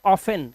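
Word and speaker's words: often: I keep this T silent while I speak this word.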